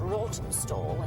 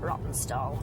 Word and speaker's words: Rawtenstall: It should be pronounced Rawtenstall. It's R-A-W-T-E-N. Stall. But locals pronounce it Rottenstall.